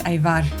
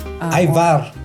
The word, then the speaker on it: Ajvar: And it's pronounced Ajvar? Yes, it's Ajvar. Ajvar.